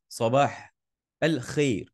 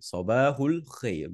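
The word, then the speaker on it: صباح الخير: Okay, in Fusha Arabic and in modern standard Arabic, the Arabic that we're studying today, we pronounce it properly. Sabahul khair. Good morning. Okay, when you're talking to Arabs, you can just say sabah, sabah al-khair. Okay, you don't have to say sabahul khair.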